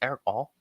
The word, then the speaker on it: Erick All: Is it pronounced Erick All?